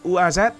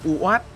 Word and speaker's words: UAZ: Vietnamese people pronounce UAZ as Uat sounds very familiar and has become a way of speaking.